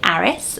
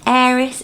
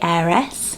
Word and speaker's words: Eris: So it looks like you would say Aris, like you would say Harris, but without the H, but it is Eris is its pronunciation. Some people even say heiress, like a heiress to a castle, like that.